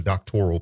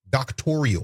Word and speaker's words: doctoral: she paid for a doctoral program. And if you listen carefully, the word doctoral in this conversation becomes a sticking point because she can't even pronounce the word. She pronounces it doctorial.